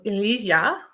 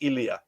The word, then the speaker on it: Ilya: i pronounce it incorrectly is um elisha i'm not sure um welcome hello hello hello okay awesome do you hear me well my name is uh actually ilya ilya is the right yeah